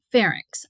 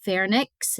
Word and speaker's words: pharynx: Pharynx. A lot of people pronounce it pharynx and put the N before the Y, but it is pharynx.